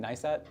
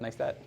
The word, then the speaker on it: Neistat: Neistat. Yep. Neistat.